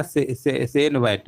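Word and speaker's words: CENVAT: हैं क्या कहते हैं, याद रखिएगा सेन वैट, है ना। सेन वैट मतलब यहाँ पर स्पेलिंग लिख दे रहे हैं CEN और VAT होता है, ये आपका होता है ना, VAT, इसी को हम सेन वैट कहते हैं।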